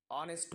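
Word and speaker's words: honest: কোনো ওয়ার্ড যদি এইচ দিয়ে শুরু হয় এবং সেই এইচের যে উচ্চারণ সেটা যদি উহ্র থাকে, অর্থাৎ সেটার উচ্চারণ আমরা করি না, সেক্ষেত্রে কি হয়, আমরা অ্যান ব্যবহার করি।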